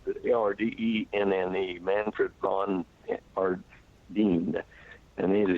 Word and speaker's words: Ardenne: Manfred von Ardenne, that's the way I pronounce it. Ardenne, Manfred von Ardenne.